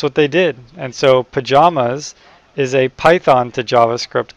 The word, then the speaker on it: Pyjamas: I might be in my pajamas.